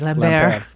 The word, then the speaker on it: Lampert: So Thandie Newton But in the remake, they actually pronounce it the French way, Lambert.